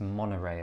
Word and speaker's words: Monterey: but it's actually pronounced monorail a bit like monorail but without the l now what i'm excited